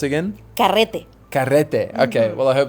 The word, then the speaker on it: carrete: And how do you pronounce it again? Carrete.